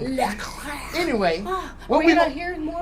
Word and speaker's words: Leclair: How you say it? Leclair.